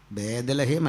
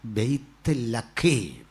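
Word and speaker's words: ബേത്ലഹേം: ബൈത്ത് ശരിക്കും നമ്മൾ ഉപയോഗിക്കുന്ന പല ഉച്ചാരണവും തെറ്റാ ബേദലഹേം അല്ല ബൈത്ലക്ക അതാ പറയേണ്ടത് പിന്നെ അങ്ങനെ അത്രയും ഈ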